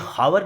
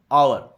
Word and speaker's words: hour: अब हालांकि आवर जो है HOUR, ये हावर नहीं पढ़ा जाएगा, ये इसको प्रोनाउंस करेंगे आवर, ठीक है ना। एच का जो साउंड है वो साइलेंट रहेगा।